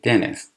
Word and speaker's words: dentist: When she started going to the dentist، dentist هستش در واقع، یعنی دندون پزشک، ولی تو محاوره و توی تلفظ امریکایی ت خیلی خفیف تلفظ میشه، اصلا تلفظ نمیشه، باید میشه dentist.